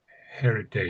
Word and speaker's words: heritage: Heritage. Heritage is it relates to that, doesn't it? Heritage. Yes, that's it. Heritage. So with heritage, we we pronounce the the H.